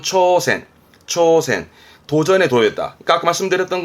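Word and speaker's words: 挑戦: 도전의 도자였습니다. 발음은 초센.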